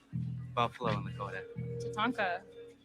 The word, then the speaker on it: tatanka: Tatanka.